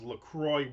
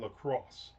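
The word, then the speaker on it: LaCroix: I'll now what about Lacrosse Gi? So, you missed the beginning. We talked about Lacrosse water which everybody thinks is Lacroy water. It's not. It's lacrosse.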